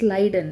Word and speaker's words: Schleiden: So coming to the cell theory, in 1838, so we have to call him as, in 1838, Matthias Leiden. It is a German pronunciation.